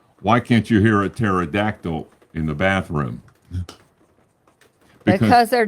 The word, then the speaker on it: pterodactyl: can't you hear a pterodactyl in the bathroom because they're dead no because the p is silent I can't believe I